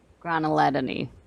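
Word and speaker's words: Graneledone: Granulodony. There we go. Correct. Know my pronunciation.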